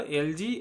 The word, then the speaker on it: algae: ठीक है, तो ऐसे पौधों को हम एल्गी या शैवाल कहते हैं। अच्छा, अमेरिकन्स इसको एल्गी बोलते हैं, जी, ठीक है। और ब्रिटिशर्स एल्गी और इंडियंस भी एल्गी बोलते हैं। तो उच्चारण एलजी एल्गी दोनों सही है।